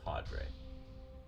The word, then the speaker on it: cadre: I just want to make sure I pronounce that word right. Cadre. It's cadre.